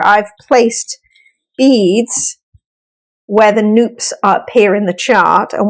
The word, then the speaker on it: Nupp: And as I'm doing, just one quick note, Nupp is actually how you pronounce it. I was getting it wrong for a long time. We like to say Nupp like soup.